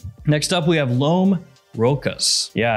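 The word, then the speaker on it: Rochas: Next up, we have Lhomme Rocas. Yeah, I looked that up and that's how you say it.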